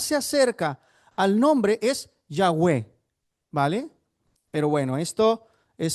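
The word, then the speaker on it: Yahweh: Y la mejor, la pronunciación que más se acerca al nombre es Yahwe.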